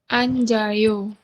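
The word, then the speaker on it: 앉아요: Anjayo. Iya, betul. Dibacanya adalah an, ja, yo. Seperti ini. Ya, apa yang berubah? Yang berubah adalah jiatnya pindah ke ini, Gantikan. menggantikan i yang betul.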